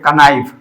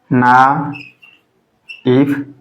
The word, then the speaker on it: knife: इसको यदि ऐसे पढ़ोगे कनाइफ, क ना इफ, तो ये बच्चों हमारा गलत हो जाएगा, ये एब्सोल्युटली इनकरेक्ट हो जाएगा, रॉन्ग हो जाएगा। तो ये हमारा नाइफ पढ़ा जाता है इसको, बिकॉज ये साइलेंट रहता है, because it is silent word, it is silent word.